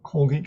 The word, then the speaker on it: Colgate: Also, while watching the game, I saw there was a Colgate commercial. It was in Spanish, and Colgate. And in Spanish, we pronounce every letter of the word.